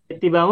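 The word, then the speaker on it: اتباعه: Nah, Bapak Ibu, cara baca ittiba'a ini alifnya dibaca kasroh kalau kita baca terputus.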